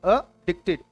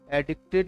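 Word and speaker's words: addicted: चलिए अडिक्टेड to, correct pronunciation is अडिक्टेड। अडिक्टेड 50 bar practice करनी है, एडिक्टेड नहीं बोलना है, अडिक्टेड टू।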